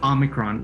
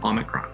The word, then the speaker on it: omicron: a lot of these greek words have a stressed syllable at the beginning of the word and so omicron would make sense that kind of stress in the first syllable omicron so that's how you